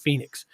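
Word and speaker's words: Phenix: of phoenix missouri and it's not spelled like phoenix it's like at p-h-e-n-i-x or something like that but they pronounced it phoenix and a lot of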